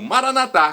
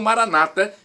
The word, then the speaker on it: Maranata: do aramaico Eu Clamo Maranata como dizemos nós católicos ou Maranata com a tônica da penúltima sílaba como dizem nossos irmãos separados os evangélicos ou protestantes não importa pronúncia porque